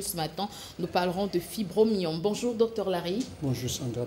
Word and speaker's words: fibromyome: Même Priscille aussi, on a essayé d'évoquer un petit peu la fibromyome, ou la fibromyomie, on dit quoi? Fibromyome. Fibromyome, oui.